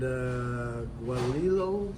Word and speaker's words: guajillo: And it's marinated in like citrus and guajillo sauce. How's that pronounced?